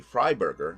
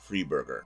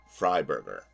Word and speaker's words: Frieberger: pronouncing the name wrong it's supposed to be fryberger not free Burger I have never heard